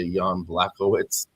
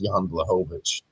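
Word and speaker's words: Jan Błachowicz: Lots of people say Yan Blacoitz. It's Yan Blahovich. W pronounced as a V in their language.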